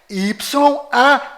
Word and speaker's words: YAUH: Ou seja, o código secreto deste cofre é YAUH.